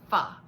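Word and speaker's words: phở: vietnam um is they they make p-h-o and it's pronounced fa and the cool the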